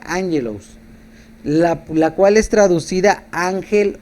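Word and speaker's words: ἄγγελος: la palabra mensajero es la palabra griega ángelos pronunciada angelos la cual es traducida ángel o mensajero en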